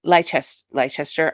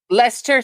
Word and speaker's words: Leicester: Castle Park and in Leicester. I'm going to say it wrong. Leicester, thank you. See, I knew I was. It's when you look at it spelling, Shannon, it looks like Leicester, but it's Leicester, and I always get it.